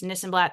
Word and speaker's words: Nissenblatt: If you are ever confused about how to pronounce my last name, it's Nissenblatt. Sounds like this and that.